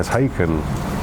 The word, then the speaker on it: Haken: actually shuttle Perseus I feel like we're people mispronounce again Parkin yeah we would say no taken like bacon yeah the covariance rewards get kept